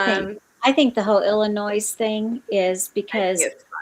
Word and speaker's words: Illinois: Well, I think I think the whole Illinois thing is because we um we are taught in at school that it's that the S is silent.